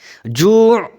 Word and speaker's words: جوع: জু' একটু গলাটা চাপ দিবেন, আইন যখন উচ্চারণ করবেন।